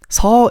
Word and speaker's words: Seo Changbin: Instead of CO, don't say CO. Just say Seo. And then instead of Chang, the issue is again the CHA. You see the same thing with Bang Chan and Changbin. Don't make the CHA sound too strong.